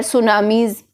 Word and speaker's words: tsunami: use the word here tsunamis tsunami okay the tea is silent and global warming so